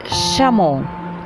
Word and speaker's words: chameau: سي اش معاهم هيبقوا شا, شا.